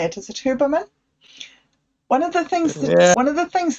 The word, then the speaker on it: Huberman: one of the things that Haberman said, Huberman, I don't know how you say it. Is it Huberman?